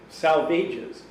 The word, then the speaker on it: Salvages: in in his in the poetry book saying salvages rhymes with the swages okay now the original the